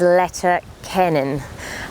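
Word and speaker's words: Leitir Ceanainn: Now that's the English pronunciation in Irish. Forgive me if I mispronounce it, but it is Letter Kennan.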